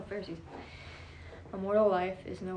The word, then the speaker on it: Pharisees: dirt ferrous for us how do you say that pharisees oh pharisees a mortal life is